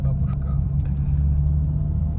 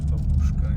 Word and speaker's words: babushka: Babushka. Westerners normally misspell it as babushka. It's babushka.